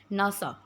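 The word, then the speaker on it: NASA: Let's see the examples of एक्रिनडम नासा। अब देखिए हमने इसको एनए एएस ए नहीं बोला। हम इसको प्रोनाउंस करते हैं नासा।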